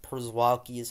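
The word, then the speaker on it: Przewalski's: not a fan of it for some reason chivalsky's horse I don't I literally just learned how to pronounce Gatos pronounced perzwalki's horse but shavolsky's uh shimitars looks amazing simang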